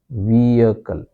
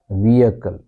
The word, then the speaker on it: vehicle: And we don't pronounce H. H is silent. Okay. So we say vehicle. Vehicle.